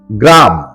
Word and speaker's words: গ্রাম: কাট 27 মূল শব্দ গ্রাম সঠিক এবং শুদ্ধ উচ্চারণ হল গ্রাম। ম এর নিচে হসন্ত দিয়ে উচ্চারণ করতে হয় গ্রাম। 28 মূল শব্দ চিকন।